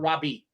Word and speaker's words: Raabe: Or Robbie? Kyle, shake your head. Is it Rob or Robbie? 2 thumbs up for Raabe. Robbie? It's Robbie. Kyle Robb.